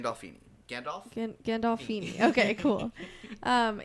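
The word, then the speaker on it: Gandolfini: Gandalfini.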